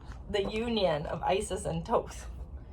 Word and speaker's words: Thoth: union of isis and tokes that's how i pronounce this some people say toss some people say thoth right yeah but when i connect i feel it is toast so that's what i'm gonna say um but one